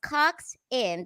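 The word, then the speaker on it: coxswain: it is like the greatest thing ever coxen pronounced Cox in that does not mean I did double penetration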